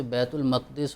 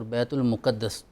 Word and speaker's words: بیت المقدس: حضور والا, آپ کا اشارہ یقیناً بیت المقدس, بیت المقدس پہلے حرم کی طرف, اور اسے بیت المقدس اور بیت المقدس دونوں طرح کا تلفظ کیا جاتا ہے.